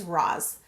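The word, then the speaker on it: Raz: and his name is Roz. And it's short, straight to the point. The way that it's spelled is the way that it's pronounced, and it means secret.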